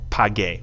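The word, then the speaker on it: pagué: Now we have page, which means I paid.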